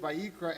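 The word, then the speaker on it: ויקרא: and as we read the word vayikra and god calls the aleph is silent the aleph beckons us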